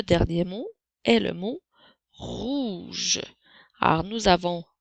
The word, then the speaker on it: rouge: Alors, le son R s'écrit avec la lettre R. Le son OU, je crois que tu l'as compris, s'écrit avec les lettres OU. Et le son J s'écrit avec les lettres G et E.